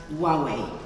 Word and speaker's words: Huawei: And remember, it's pronounced Huawei and Gadot.